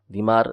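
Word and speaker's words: ضمار: کو پوجا کرتے تھے۔ ضاد میم الف را، دیمار۔ دیمار اس کا صحیح تلفظ ہے، بعض نے اس کو دمار بھی پڑھا ہے۔ اس کی عبادت کرتے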